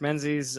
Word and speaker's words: Menzies: friend would you introduce yourself sir ah Mark Menzies um that's how you pronounce the last name uh Rob thank you